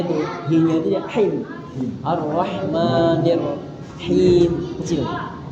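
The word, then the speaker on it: الرحمن الرحيم: Itu aja pengucapannya. Nah, sama dia tadi di Iya. Nah, h-nya itu h-nya itu dia him arrahmanirrahim kecil. Arahmanirrahim.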